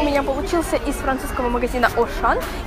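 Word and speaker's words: Auchan: получился из французского магазина ошн или же по-русски Ашан Дада именно так у них произносится это название магазина он Вы наверное сейчас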